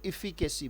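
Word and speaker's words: efficacy: उच्चारण क्या है? तोड़ लिया करो, इफिकेसी। बोलो इफिकेसी।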